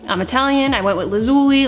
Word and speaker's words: Lazuli: to make number one it's pronounced lazuli guys I have been struggling in my own brain with this brand name when I first heard this brand my mind just wanted to say lazuli I'm Italian I went